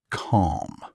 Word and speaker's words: calm: Say after me, calm, with a silent L. Calm. Almost. Don't say the L. Just calm.